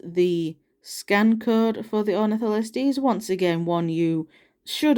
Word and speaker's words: Ornitholestes: Here is the scan code for the Ornitholestes. Once again, one you should already have by now because it's an older figure. It is the Callovosaurus' wave mate. But yeah. So yeah, that is the Ornitholestes.